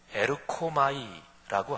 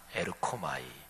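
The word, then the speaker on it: ἔρχομαι: 헬라어 발음으로 에르코마이라고 하는 단어입니다. 에르코마이.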